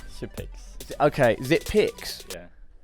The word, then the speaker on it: Xyp9x: that is it pronounced zipnick ziix okay zipic yeah it's because it's if you're draw a nine yeah yeah and you turn it around it's an e okay so how does